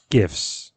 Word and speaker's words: GIF: I say GIFs. Hard G.